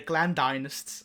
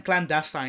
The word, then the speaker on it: clandestine: z list characters the clan dynasts i don't even know how to pronounce that word i think it's clan dynasty clan dynasts or something uh cl clandestine yeah that's it that's it uh yeah